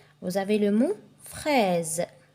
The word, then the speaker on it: fraise: vous avez le mot fraise le S entre deux voyelles ça se prononce Z il y a la